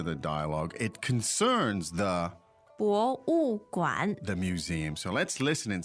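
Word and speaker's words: 博物馆: 博物馆，博物馆。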